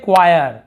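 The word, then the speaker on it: choir: वैसे यहाँ पे देखिए इसे हम पढ़ते हैं क्वायर, क्वायर पढ़ते हैं, गाना बजाने वाले को क्वायर कहते हैं।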